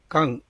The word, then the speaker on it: 干: Kan. And it is Kan.